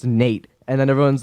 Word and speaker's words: N8: yeah because like the the N8 is supposed to be like my name it's Nate and then everyone's like oh so just and then they type in like Nate I'm like well it's